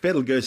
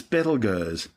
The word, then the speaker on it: Betelgeuse: It's currently referred to by astronomers as Betelgeuse, which has been commonly corrupted to Betelgeuse. Don't say it three times. Both names are actually tortured mispronunciations of its original Arabic name, Ibtalyaza, meaning the hand of the big man.